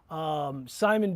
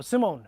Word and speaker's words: Simone: So you guys know Simon B. No, Simone. Simone, I think it's pronounced.